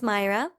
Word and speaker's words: Mayra: My name is pronounced Mayra, and it's spelled Mayra, Mayra.